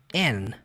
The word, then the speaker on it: and: essa palavra é pronunciada and. And kind and smart. And kind and smart. Dificilmente, tá? Não é sempre, mas dificilmente você vai perceber o som do D.